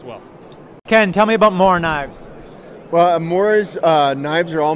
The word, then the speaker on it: Morakniv: Ken, tell me about Mora knives. Well, Mora's knives are all made in Sweden in a town called Mora. They're actually pronounced, they call them Morakniv.